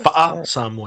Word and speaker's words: Fa'a Samoa: Am I pronouncing it right? Fa'a Samoa. Yep.